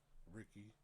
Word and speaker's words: Ricci: Of course, you all know my name, Ricky, spelled Ricci, D.